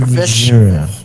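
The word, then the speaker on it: Vesharia: My name is Vishera. Words? Spelling Vishera. pronunciation. Vishera. Vishera.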